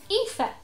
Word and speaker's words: Aoife: and been like, what, when you saw how it's spelt. It's Aoife.